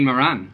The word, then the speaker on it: Moran: pongs of gravy too his real name is D Moran rhymes with Warren but our PE teacher